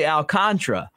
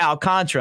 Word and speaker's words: Alcantara: ever was um uh Alcantara who is actually alcantra and he said to me he's like look I don't care if you call me Alcantara or Al Contra and I'm talking about